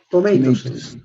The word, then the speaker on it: tomatoes: En esta parte, por si acaso, no se pronuncia la E, porque hay choque de vocal con esta, ¿no? Con la O. Pero tiene que estar por regla general. Por más de que no se pronuncie, esta E tiene que estar ahí, ¿no? Es como si no existiera, directamente se pronuncia tomatoes.